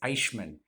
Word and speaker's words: Eichmann: Actually, I think it's Eichmann. That would be the proper pronunciation.